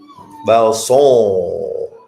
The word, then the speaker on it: Valsant: Valsant. Oh, say it like he's from Haiti. Valson.